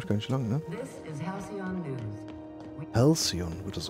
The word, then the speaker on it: Halcyon: Halcyon wird das ausgesprochen, okay.